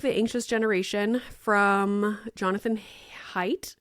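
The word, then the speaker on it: Haidt: anxious generation from Jonathan height I think you pronounce it height h a i DT so good I'm in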